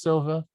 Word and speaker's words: Silva: wanted to get this Silva she raised her hand just to say I'm sorry do you have anything else Silva the L is silent there is an L but it's silent okay I was reading